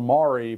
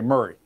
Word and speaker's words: Maury: And now keep in mind, in Tennessee, it's spelled Maury, but we say Murray.